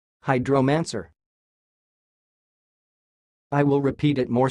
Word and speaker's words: hydromancer: the word you see it sounds like hydro-man sir hide romancer I will repeat it